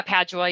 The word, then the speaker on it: Padua: Yeah, Padua. Yeah, that's how I Padua.